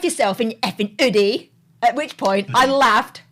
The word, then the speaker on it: Oodie: Effing Oodie. Oodie. Oodie, like hoodie.